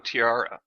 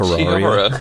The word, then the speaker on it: Terraria: Why don't you sell me on Tiara? I can't even pronounce it. Terraria.